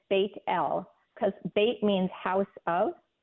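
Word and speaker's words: Bethel: of people who have not heard that name pronounced that way most of us would say Beth L Y or bethl I've heard people say Beth but it's yeah it's bit L because bait means House of and L is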